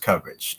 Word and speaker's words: Cubbage: But the last name is pronounced Cubbage.